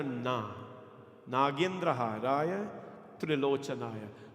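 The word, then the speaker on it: त्रिलोचनाय: Nagendra Haraya Trilochanaya. Please don't say Trilochanaya. Some people say Trilochanaya, right?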